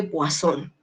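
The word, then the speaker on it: Poisson: paso distribución de sol esto se escribe poison y se dice wason visto porque es francés muy bien entonces para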